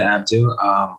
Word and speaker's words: Abdo: Am I pronouncing that right, David? Abdo? It's Abdo, but it's fine.